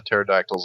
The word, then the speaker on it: pterodactyl: get hit by the pterodactyl's laser vision and die sign on out is pterodactyl really spelled with P yeah yep really yeah the p is silent I had no clue